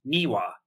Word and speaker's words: niwa: the Japanese word for garden and that is niwa niwa is spelled n iwa and niwa is relevant to